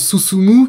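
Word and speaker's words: 進む: Le premier se prononce Susumu, qui signifie avancer, et le second Utsu, qui est l'équivalent de frapper en français.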